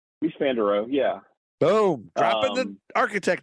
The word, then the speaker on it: Mies van der Rohe: Is it Mies van der Rohe? Mies van der Rohe.